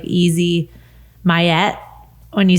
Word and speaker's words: MYET: so funny is it's a super like easy mayet when you say it like it's not like you're not like how do you pronounce it or how do you do that